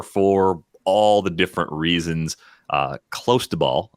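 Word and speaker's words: clostebol: Close to ball, I believe, is the pronunciation of the steroid that Tatis tested positive for.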